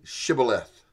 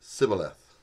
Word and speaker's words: shibboleth: said no they said to him then say shibboleth and he said sybileth for he could not pronounce it right then they seized sim and